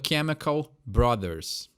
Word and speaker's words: Chemical Brothers: do Chemical Brothers are Brothers é uma palavra que a gente dá um abrasileirada né brother mas o jeito correto é a Chemical Brothers não tem esse jeitinho de falar aí que é um pouquinho diferente do que está acostumada Pede outra mais uma